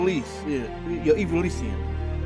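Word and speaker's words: Ivalician: It's always evil. Evilian, not Eian.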